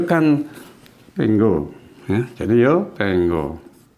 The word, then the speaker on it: tengo: tenggo ya jadi yo Tengo ini bacanya bukan Tengo ya Tengo bukan tenggo seolah-olah kayak g-nya dua tenggo k-nya tetap kan nah yo tenggoke saya